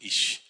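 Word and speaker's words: אִישׁ: 이쉬.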